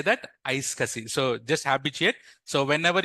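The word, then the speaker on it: iSCSI: what is the one we call say that ice Cassi so just habitate so whenever you see this kind of protocol we pronounce this as ice cussi so don't worry about this protocol and your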